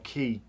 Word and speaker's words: quay: talking about this, because Lisa couldn't believe you spell key, Q-U-A-Y. Q-U-A-Y is key, yeah. Yeah, like the Florida Keys, but you spell it K-E-Y.